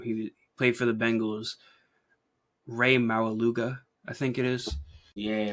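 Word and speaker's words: Rey Maualuga: Ray Maluga, I think it is. Yeah. Ray Maluga.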